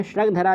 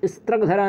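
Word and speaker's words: स्रग्धरा: यह श्रगधरा छंद है, स्त्रगधरा नहीं है।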